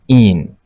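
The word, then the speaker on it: -ene: and then you add the suffix e n e which is pronounced as in.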